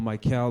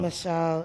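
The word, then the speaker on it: Machel: Is it Michelle or Michael Montano? Michelle. It's Michelle Montana.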